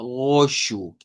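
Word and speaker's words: roxo: Va, el que nos dio duda es el goshu. Pone que ese esu. Esa X se pronuncia como sh.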